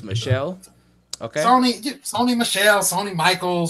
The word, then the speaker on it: Michel: I'm actually hoping Sony Michael slips and we can pick him up. Hey, but that's another story. If you're gonna pick him up, I'm gonna need you to say his name right. It's Michelle.